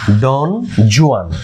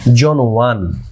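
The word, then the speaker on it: Don Juan: Lord বায়রনের বিখ্যাত এপিকের নাম হচ্ছে ডন জোয়ান। যদিও সঠিক উচ্চারণ হচ্ছে জন ওয়ান।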